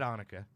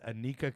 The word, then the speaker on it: Anika: actually have um anika i almost said annika it's a tough one it's spelled annika but it's anika cooper and she is actually